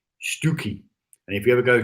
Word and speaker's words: Stiffkey: Now, Stiffkey, if you ever go to Norfolk, don't call it Stiffkey, Stookie.